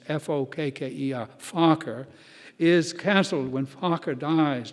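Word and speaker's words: Fokker: aviation prodigy baron anthony focker you wanted to pronounce that for me it's f-o-k-k-e-r focker is cancelled when focker dies during minor surgery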